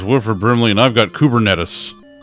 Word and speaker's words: Kubernetes: chasing waterfalls it's through cooper cooper nades is how ms teams pronounces it [ __